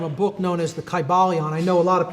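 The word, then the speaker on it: Kybalion: Y sounds, you know, it would have been a long I sound. Kai Balon and every syllable would have been pronounced.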